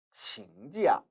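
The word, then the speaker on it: 请假: 칭, 찌야, 칭지야, 칭지야. 이처럼 칭이 동사로 쓰여 요청하다, 부탁하다라는 의미로 쓸 때는 뒤에 명사가 옵니다. 지금 보시는 이 찌야는 여기에서 사성으로 발음되고 있는데요.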